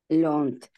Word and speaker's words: learned: Тобто learn в кінці літера Т, так? Чітко її вимовляємо. I have learned. Learned.